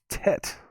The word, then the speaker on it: tet: hebrew alphabet is called tet this says rhymes with mate as in tate tet that's what the guy